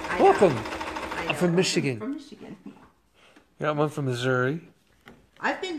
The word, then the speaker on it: Missouri: yeah I'm I'm from Missouri I've been the mazury mazury mazury mazury as my grandma used to put it Missouri cuz we had family down there and that's how she always pronounced it was yeah Missouri I